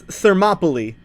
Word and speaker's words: Thermopylae: How to pronounce Thermopylae. What the fuck? Thermopylae. Okay, apparently it's Thermopylae.